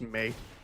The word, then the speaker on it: Mai: you calling her a Mai is going to be great engagement bait for YouTube. It's pronounced May. It is absolutely not. Is her name May? It's not Mai, like My Valentine from Yu-Gi-Oh!